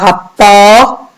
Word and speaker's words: rapport: Par rapport, la lettre T ici est une lettre muette. Je la vois, mais je ne l'entends pas.